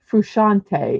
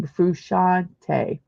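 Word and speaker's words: Frusciante: of who he is there is John fante fante is how you say his name fante okay and who is John fante he's a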